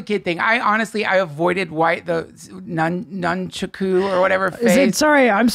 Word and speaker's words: nunchaku: I'm sorry, am I mispronouncing it? It's actually it? Nun. I only know that from karate class with my kids. But there's a weird name for them. It's nunchaku. I don't understand.